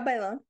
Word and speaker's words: Bailon: Hello, Cheetah Girls, Adrienne Bailon. Did I say her last name wrong? Yeah, Bailon.